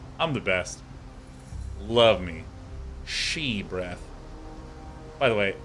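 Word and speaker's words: Sidhe: the best love me she breath by the way s-i-d-h-e is pronounced she not see the hair which is what I initially thought all right sweet now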